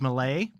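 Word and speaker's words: Milei: pronounce the guy's name I think it's Malay is how they pronounce it in Argentina yeah have you seen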